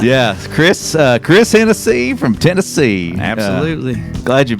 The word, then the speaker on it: Hennessee: let's do it again when your last name rhymes with Tennessee it's only F yes Chris uh Chris Hennessy from Tennessee absolutely glad